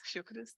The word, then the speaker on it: Fiocruz: experience at, I'm going to mess up the pronunciation, but Fiocruz? Fiocruz, that's perfect.